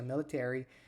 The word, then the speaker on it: military: é que ele pronuncia military e o influ para vocês verem a diferença percebeu ele falou influ influen Experience Ok e o e o military ele acentua o ter em vez do military mas gente eu tô